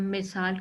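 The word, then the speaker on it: Meursault: इसका main character मैसो है, जिसको हम मिसाल के तौर पे पढ़ेंगे, जिसका करेक्ट प्रोनाउंसिएशन मैसो है।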